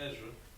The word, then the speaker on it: Ezra: The book of Ezra. That's going to be pronounced simply Zara.